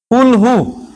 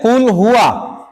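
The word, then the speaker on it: قُلْ هُوَ: পড়ছেন ঠিক, যেমন আমরা এইভাবে পড়ি যে কুল হু, কি পড়ি? মানে বাংলা যখন উচ্চারণ পড়ি, কুল হু আল্লাহু আহাদ, নাকি? কি ভুল হইল? কুল হুয়া, এরপর হচ্ছে আল্লাহ, এরপর হচ্ছে আহাদ।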